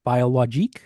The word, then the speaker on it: biologique: But in France, you might see a label that says just AB, which is agriculture biologique.